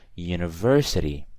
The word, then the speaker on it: university: So university. I don't say an university, I say a because of that U pronunciation, right?